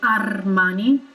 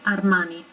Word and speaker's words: Armani: a bit too pronounced there is only one r in armani and one r in versace therefore we don't really roll it that much we don't say armani but simply armani it's like a touch of an of a rotated r if that makes sense